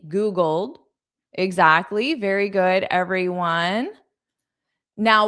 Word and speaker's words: Googled: So that Googled, the ED is just a soft D. Googled. Exactly. Very good, everyone. Now, when I connect it to it sounds like dit. Dit. Googled it.